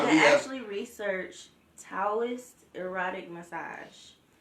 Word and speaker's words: Taoist: actually research Taoist erotic massage. It's spelled Toaist. It's T-A-O. Taoist.